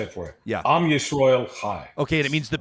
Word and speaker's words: Am Yisrael Chai: Am Yisrael Chai.